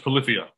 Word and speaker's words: Polyphia: And it's pronounced Polyphia.